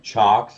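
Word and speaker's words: CIOKS: um it looks like it's seahawks but it's pronounced um chocks apparently c-i-o-k-s they make phenomenal power supplies even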